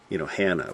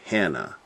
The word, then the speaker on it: Hannah: Hannah, we say. Hannah. Emphasis on the first, Hannah. Hannah. That's how they would say it.